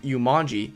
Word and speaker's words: Yumanji: fact it's pretty far from it it's actually pronounced yanji and appears like this in Chinese characters plus